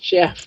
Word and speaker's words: Geoff: Oh, Geoff is pronounced Jeff. Okay. Thanks for letting me know. Because I've always thought of it as Geoff.